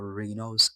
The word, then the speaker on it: Renoise: Yeah, so now if you have to go to any browser, just search for Renois AI as in noise, then you have ray.